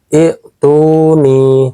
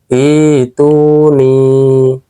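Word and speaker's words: ائْتُونِي: Cara bacanya, hamzah yang kedua diubah menjadi mad atau panjang. Sehingga cara bacanya bukan ituni, tetapi ituni.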